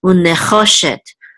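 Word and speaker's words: נְחֹשֶׁת: Unecho shet. Now remember, the accent is on cho under this chet, so unecho shet.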